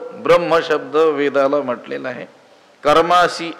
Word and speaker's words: ब्रह्म: ब्रह्म नित्यम यज्ञ प्रतिष्ठितम ब्रह्म शब्दाचे उच्चारण बहुतेक आपण बरीच मंडळी चुकीचीच करत असतो ब्र त्याच्यानंतर आपण म च उच्चारण करतो आणि मग हकाराचे उच्चारण करतो ब्रम असा शब्द नाही आहे ब्र त्याच्यानंतर अर्धा आहे ह आणि पूर्ण आहे म शेवटी काय आलं पाहिजे